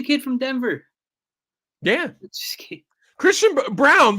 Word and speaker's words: Braun: guy like a Christian it's brown but it's spelled Braun or whatever spell Brawn but it's brown yeah it's actually the